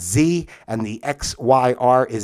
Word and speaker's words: xe: get is pronounced Z, the XE, commonly pronounced Z, and the XYR is Zir, okay?